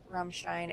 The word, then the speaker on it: Ramstein: yeah and so and all in that uh Ramstein Ramstein area if you want to pronounce it properly I always felt so dumb